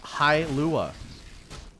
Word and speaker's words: Hailua: His name is pronounced Hailua.